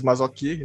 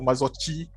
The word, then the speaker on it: Marzocchi: So Marzzocchi, it's actually pronounced as Marzocchi, not Marzocchi.